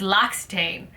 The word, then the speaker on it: L'Occitane: It's the I looked it up, L'Occitane, I think it's not OC, yeah, it's L'Occitane, I believe is the brand.